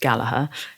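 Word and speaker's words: Gallagher: to own my Rory galaher definitely pronounced galaha Custom Shop Strat the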